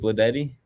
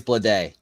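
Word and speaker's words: Bleday: um I might JJ bledetti left fielder okay Nick Fortes DH by the way it's blood day well day my bad you know me and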